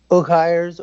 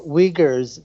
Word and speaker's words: Uyghurs: Give us a sense of how many Uyghurs or Uyghurs, depending upon how you want to pronounce it, are actually now imprisoned by the Chinese government.